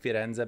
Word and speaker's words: Firenze: since spending time there, I've said Firenze back home, and they're like, and someone's like, wait, Florence? I'm like, yes, it's Florence, but this is how you say the name of the city. Like, that's the name of it.